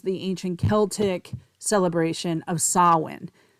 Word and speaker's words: Samhain: ancient Celtic celebration of sawin of course it's spelled s m h a i n pronounced sawin um and it was